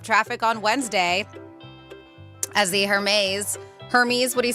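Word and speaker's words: Hermès: It held up traffic on Wednesday as the Hermes, what do you say, Hermes? Hermes. I know some people are like, you got to pronounce the H, because some people just say Hermes, whatever. Hermes.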